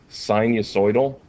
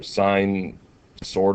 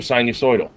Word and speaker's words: sinusoidal: I remember actually it was in high school physics, and I had said sinu or sine sortal or something, and my teacher was like, sort of sine?